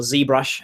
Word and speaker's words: ZBrush: And they're also doing a lot of ZBrush, or ZBrush, as the Americans say it, Mudbox.